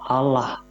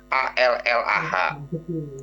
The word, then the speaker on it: Allah: ada tulisan yang sama allaha di terjemahan Alquran juga ditemukan Alla tapi ketika pengucapannya berbeda muslim bilang Allah mereka bilang ala Ya udah beda walaupun